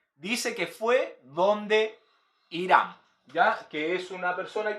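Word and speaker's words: חירם: Hiram aparece en su Biblia escrito con H, y en hebreo la palabra es con J, y se escribe Hiram, ¿ya?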